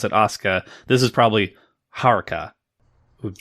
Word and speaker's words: Asuka: goes by the name Asuka, and it's But you don't really pronounce the U. So, it's just it's it's kind of spelled similarly, but you just pronounce it Osuka.